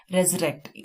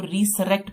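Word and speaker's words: resurrect: अब इसकी pronunciation रेजरेक्ट है, फिर से जीवित होना, लेकिन प्रोनाउंसिएशन अगर हम इसको ट्रिक करेंगे, ट्रिक के लिए हम इसको रीसरेक्ट पढ़ेंगे, क्योंकि जब भी हम इसको देखते हैं तो हमें री और सरेक्ट की हमें एकदम से माइंड में आता है, तो हम इसको रीसरेक्ट पढ़ेंगे, लेकिन इसकी प्रोनाउंसिएशन है रेजरेक्ट।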